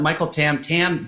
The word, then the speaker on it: Michael Tam: So, Michael Tam, I've never really had you confirm that Michael Tam, that's the correct pronunciation, correct?